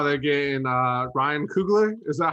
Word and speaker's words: Ryan Coogler: To start off, I love how they're getting Ryan Coogler.